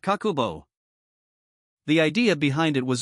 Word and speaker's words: kakeibo: In Japanese, that word is kakeibo, pronounced kakubo.